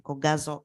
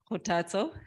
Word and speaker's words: Khotatso: I am the founder and director of Khotatso Innovations, pronounced Khotatso. It's a Tswana word for motivation.